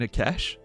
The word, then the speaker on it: cache: an old weapons cache cache you mean a cash it's not pronounced a cache right I guess Kim's voice